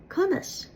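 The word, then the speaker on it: conas: In Munster, you'll hear conus, which is a combination of ka plus inus.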